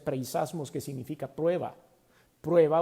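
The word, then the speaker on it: πειρασμός: Viene de un vocablo griego que se pronuncia preisasmos, que significa prueba o tentación.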